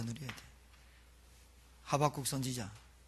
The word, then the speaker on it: 하박국: 이때 더 누려야 돼요 하박국 선지자 목사님이 발음 담해 가지고 호박국 선지자라고 했는데 하박국 선지자 뭐라 했어요 소양간에